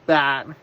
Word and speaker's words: Bat: that his name was Bat, but he is not a bat, so he's not an animal. His name is just B-A-T, or it might be something similar. It's pronounced as the word bat.